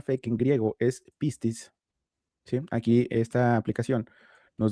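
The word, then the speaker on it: πίστις: Si alguien hablara griego en este momento y leyera lo que está escrito aquí, lo que oiríamos de su boca sería esto, ¿no? Pistis.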